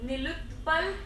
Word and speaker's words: Nilutpal: Nilutpal. So, say oh, say my name loudly. That yeah, that came up. He said, guys, loudly say my name. Let me break it for you. Nil yes. Utpal.